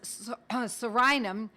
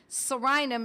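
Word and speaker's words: Psorinum: One of them was Sorinum, spelled with a silent P, you know, like pneumonia. You don't pronounce the P. Sorinum is P-S-O-R-I-N-U-M. Sorinum.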